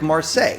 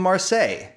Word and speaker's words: Marseille: end on solei uh maybe it's a french city that will rhyme with solei like marseille that's a french city so there once was a girl from marseille great now we have